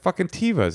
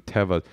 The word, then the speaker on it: Teva: israelis that listen that i wasn't pronouncing it according to the semitic the biblical pronunciation teva she